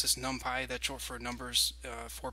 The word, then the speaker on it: NumPy: And I should just clarify, some people pronounce this NumPy, that's short for numbers for Python or numbers in Python.